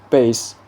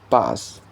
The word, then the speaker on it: bass: The first pair base and bus. So they are spelled the same but they are pronounced differently and they are mean uh meaning the two different things.